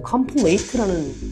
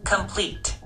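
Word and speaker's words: complete: 컴플레이트라는 단어가 아니에요, 이건. 컴플리트. 컴플리트죠. 컴플리트입니다. 이건 컴플레이트가 아니에요.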